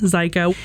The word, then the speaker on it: Zajko: have psych psycho rhymes with psycho zyko she is a Gettysburg